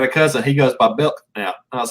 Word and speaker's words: Belknap: One time I mispronounced his name because there's a K in there. He says, nope, that's silent. So it's Belknap, John Belknap. So is I close on the Belknap? I got a cousin. He goes by Belknap.